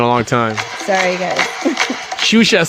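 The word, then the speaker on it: Xuxa: Shusha spelled with an X-U-X-A, like an X-Men.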